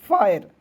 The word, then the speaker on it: fire: तो एफ का फ, IRE जब भी रहता है दोस्तों अंतिम में तो इसका उच्चारण किसके रूप में करते हैं, आयर के रूप में करते हैं, ठीक है, आयर, तो हो जाएगा फायर।